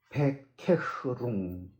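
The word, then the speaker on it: Bekehrung: 원어에는 부스 오더 베케흐룽 부스 오더 오더는 오어입니다.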